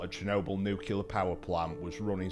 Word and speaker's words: Chernobyl: Uh, I think we've all heard of Chernobyl, and it is pronounced Chernobyl because I Googled it before. Comments, stop it. It's Chernobyl, not Chernobyl.